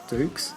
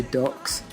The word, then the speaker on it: Dux: martial artist Frank Duck Dukes. I keep when I read it, I kept wanting to say ducks. Yeah, cuz it's written dux, isn't it?